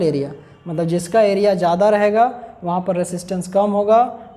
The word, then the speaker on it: rho: Proportionality का sign हटाइएगा तो एक कांस्टेंट लग जाएगा, इसको बोलेंगे रो, और स्पेलिंग हो जाता है रो का RHO, रो। इसको बोलते हैं रेसिस्टिविटी, या इसी को बोला जाता है स्पेसिफिक रेसिस्टेंस।